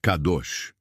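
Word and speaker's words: קדוש: Para aprofundarmos neste conceito, precisamos conhecer a palavra hebraica para santo, que é kadosh, se pronuncia kadosh.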